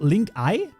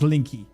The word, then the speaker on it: Linky: Is it called link eye? No, it's not called link eye. Linky. See, did you hear that? Linky. Exactly. Linky. It's 100% pronounced linky. There's no chance it's pronounced link I.